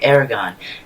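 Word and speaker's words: Eragon: young dragon rider named Aragon. Now, probably gonna get some hate. There's a lot of debate over his name. It's how it's pronounced. I like Aragon, that's how they pronounced it in the movie.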